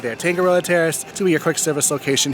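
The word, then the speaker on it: Tangaroa Terrace: popular but just as fun okay it's the tangoa Terrace I'm sorry I mispronounced I said it the wrong thing Anthony corrected me on it but yes there it is you see the sign right there tangoo Terrace to your quick service location here they also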